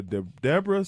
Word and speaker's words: Deborah: Oh, it's Deborah. Oh, excuse. I'm sorry, Deborah. It's pronounced like it's spelled.